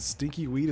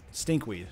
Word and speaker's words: Stinkweed: Is it Stinky Weed? Is that what it's called? Did I mispronounce it? Stinkweed, not stink. It's Stinkweed. Bring back Bloodghast.